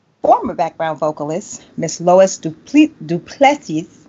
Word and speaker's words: Du Plessis: background vocalist, Miss Lois Du Plessis. I always say it wrong. We've been working on this for a minute. Help me out, Lois. Du Plessis. Du Plessis.